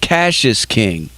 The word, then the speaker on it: Cassius King: zach you know oh so it's so it's pronounced cassius king yes exactly okay i've been you know you